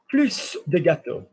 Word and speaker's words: plus: So for example, if I read more cake, plus de gâteau, I would pronounce the S because it's more of a noun.